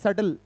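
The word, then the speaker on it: subtle: Next सटल। इसको बोलते हैं सेटल। बी जो है प्रोनंस नहीं होता है। बी साइलेंट होता है। इसमें सेटल बोलते हैं।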